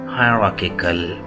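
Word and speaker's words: hierarchical: pronouns and that is हायरार्किकल हायरार्किकल इस आर को बेशक साइलेंट कर लीजिए हायरार्किकल हायरार्किकल अमेरिकन प्रोनंसिएशन है हायरार्किकल हायरार्किकल हायरार्किकल British pronunciation है हायरार्किकल हायरार्किकल हरकिकल हरार्किकल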